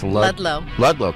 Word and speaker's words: Ludlow: all you are and how are we pronouncing your last name it's lllo cuz you're you're blocking the low part so